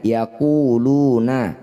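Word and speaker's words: يقولون: Cara bacanya lu, panjangkan 6 harokat, huruf terakhir sukunkan. Yaquluna, saat dihentikan yaqulun.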